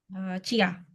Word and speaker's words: jia: Misalnya kalau aku kasih Sinta JIA, bacanya gimana? Sinta. Cia. Cia. Oke. Cia.